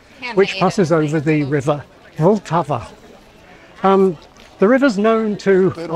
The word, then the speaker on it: Vltava: But in fact, this word has three syllables, Vltava. And like practically every word in Czech, this name has stress on the first syllable. And the heart of that syllable is the letter L.